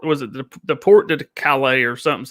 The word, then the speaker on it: Calais: The Calais? I forget how you say it. Yeah, Calais.